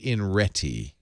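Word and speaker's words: iNRETI: this is the automatic oh you pronounce inre in reti i n r e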